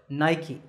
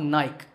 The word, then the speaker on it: Nike: is the sportswear manufacturer Nike that's right it's not naik there are two syllables night and key in fact the company's